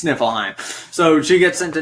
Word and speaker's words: Niflheim: Yes, she gets sent to Nilfheim. Nilfheim or Niflheim? Niflheim. Okay. I think it's Nilfheim. Niflheim is one of the realms. I'm not sure about Nilfheim. Well, how would you know anyway? Nifl. Oh, well, it's spelled I guess it's spelled Niflheim, but I was thinking just Niflheim. You're right, it's Niflheim.